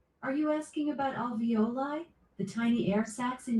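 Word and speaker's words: alveoli: into pockets and crevices um in your um avioli. Alexa, how do you pronounce that word in your lungs? Avioli airbags. Are you asking about alvoli?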